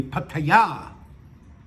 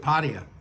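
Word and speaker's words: Pattaya: I think it's supposed to be pata with the accent on the yah. But as much as a stickler for pronunciation as I am, I have always pronounced it pia and I always will.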